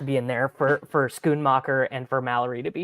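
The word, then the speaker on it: Schoonmaker: comes Titans we've got Luke how do you pronounce his last name Musgrave he's out no no s c h o o n scoon mocker yeah yeah he also he's like a third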